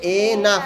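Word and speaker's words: enough: you have in এনাফ উচ্চারণটা হবে এনাফ মানে যথেষ্ট এনাফ মানে যথেষ্ট ইফ এনাফ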